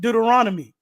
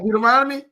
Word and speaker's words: Deuteronomy: It's just like when our first people said Deuteronomy. It's not Deuteronomy? I don't pronounce it like that.